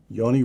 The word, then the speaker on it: Yoni: your older brother, Yoni. Am I pronouncing that correctly? Yes. Yoni.